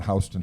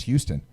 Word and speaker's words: Houston: Just like New York, people live on Hston Street. I'm like, it's not H. It's Houston.